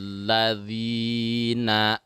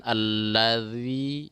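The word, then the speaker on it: الذين: Kemudian jangan lupa di bacaan allazi, dza, zi, zu, jangan allazi, jangan siratal lazi, tapi dza, zi, zu, bad.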